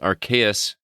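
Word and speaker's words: Arceus: both releasing on november 19th and pokemon legends rks did i pronounce that correctly cb rks yes uh releasing on january 28 2022 we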